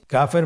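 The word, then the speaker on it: كاف: কাফের মাখরাজ হলো জিহ্বার গোড়া থেকে একটু আগে বাড়িয়ে তার বরাবর উপরে তালের সঙ্গে লাগিয়ে উচ্চারিত হয়।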